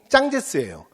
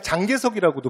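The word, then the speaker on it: 蒋介石: 그 다음에 이대총통이 짱제스예요. 근데 교과서 표기는 짱제스야. 근데 우리가 보통 뭐라고도 부르냐면 그냥 장개석이라고도 불러.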